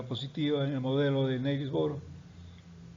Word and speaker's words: Niels Bohr: Y entonces en 1913 viene un físico, Niels Bohr, vamos a pronunciarlo así como estamos acostumbrados en español, Niels Bohr, con un modelo de